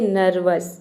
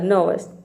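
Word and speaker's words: nervous: हम बोलते हैं नव ये भी नर्वस नर्वस नहीं होता है कई स्टूडेंट प्रोनाउंस करते हैं नर्वस यहां पे आर को पूरा प्रोनाउंस कर देते हैं तो आपका प्रोनंसिएशन रंग हो जाता है यहां पर आपको केवल एन व और एस यानी कि इतनी लेटर में आपको केवल तीन ही लेटर को प्रोनाउंस करना है ई आर और ओ यू को साइलेंट रखना है तो आपका प्रोनंसिएशन 100% करेक्ट होगा लेकि न व स नवस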